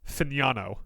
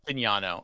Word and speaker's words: Fagnano: So I'm seeing here, it's pronounced Joe Fagnano. Apparently the G is silent. Fagnano.